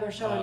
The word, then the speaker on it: Merchan: Is it 10 days from now when Judge Merchan, am I pronouncing that Oh, right? yeah, Merchan, yeah.